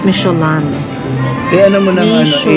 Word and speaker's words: Michelin: It's not micheline. It's micholan.